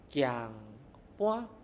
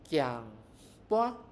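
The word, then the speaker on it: 键盘: Okay, it is giang bua, giang bua. This is in Chinese is jian pan, jian pan.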